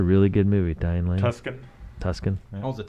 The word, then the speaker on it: Tuscan: So if I were throwing them out, I would say Under the Tucson Sun, Okay, let me look it up. Let me see. If Tuscan. Tuscan. Jeez, I pronounce things the way they're spelled.